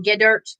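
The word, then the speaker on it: Geddert: olympic coach john gooder that's how you say his name get dirt get ert g-e-d-d e-r-t g-dirt um something like that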